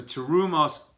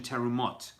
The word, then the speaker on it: terumot: So terumos, plural, or in a different pronunciation, terumot, right?